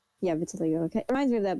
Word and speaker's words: vitiligo: It kind It's kind of like I don't know how to pronounce this word, but by my life. Viligo. It is kind of like reminds me of that. Yeah. Vitiligo.